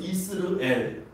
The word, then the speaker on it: 이스르엘: 이스르엘. 엘은 하나님이에요. 성경에 엘이라고 나오는 그 지명과 사람의 이름은 하나님의 뜻이 있습니다. 그러니까 이스라엘과 좀 발음이 비슷하죠. 이스르엘. 그런데 뜻은 완전히 다릅니다.